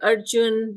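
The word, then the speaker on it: Arjuna: sh um we tend we should not um pronounce the a at the end this is so you can just say Arjun yudish nul and be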